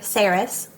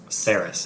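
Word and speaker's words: Saeris: ready yeah let's do it so main character sarus sarus how do we spell it s s a e r i s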